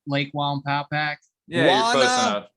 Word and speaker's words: Wallenpaupack: I still don't know if I'm saying it right, Lake Wallenpaupack. Yeah, you're close enough. Paulpeck. I think it's Wallenpaupack.